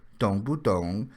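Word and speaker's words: 懂不懂: and easy to remember dong buong with a long o sound for Dong Well I was assigned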